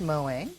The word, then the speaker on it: Moe: set by Moe flavor it is pronounced mowing as in cute um in a sort